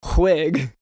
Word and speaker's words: Whig: Well, you pronounce it wig, but Oh, I guess that's true.